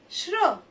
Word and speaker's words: श्र: चौथा है श्र। श्र श्र किससे किससे मिलके बना है? आधे श और र से मिलके बना है। श्र देखिए एक नया व्यंजन बन गया।